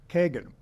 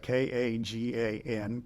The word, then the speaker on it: Kagan: And he said, I pronounced it as they do in Spanish, in Kagan. And if you, anyone who is watching this who knows Spanish will realize that, no, you don't pronounce it Kagan.